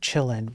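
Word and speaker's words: Qilin: Usually, if it's Chinese, then you you sometimes you pronounce the Q as a ch. Uh, so chillin. I like to call it chillin.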